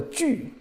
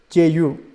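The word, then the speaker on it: 句: Fourth layer is called a ju, J-U, or you can add two dots here if you know them. You learn Germany. A two dot here, ju, fourth tone.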